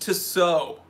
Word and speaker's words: Tissot: It's pronounced Tissot.